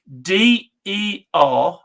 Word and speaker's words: Derby: So if I was to say if I'm going to spell a word to you, and then if you pronounce it, DERBY.